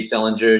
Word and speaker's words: Selinger: It's Selinger, just like JD Salinger, catcher in the rye.